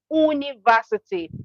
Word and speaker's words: university: The beginning sound is Y.